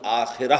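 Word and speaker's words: آخرة: کلا بل تحبون العاجلہ، تم عاجلہ سے محبت کرتے ہو۔ عاجلہ آخرہ کے مقابلے میں، آخرہ آخرت جسے ہم آخرت کہتے ہیں، عربی میں اس کا تلفظ آخرہ ہوگا۔ اس آخرہ کے مقابلے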